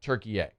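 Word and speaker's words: Türkiye: They're only now saying, "By the way, we actually prefer it if you said Turkey A."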